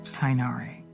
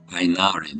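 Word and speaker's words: Tighnari: strange phenomena in the forest sincerely your student tinari tinari this is how you pronounce it I was actually wondering how you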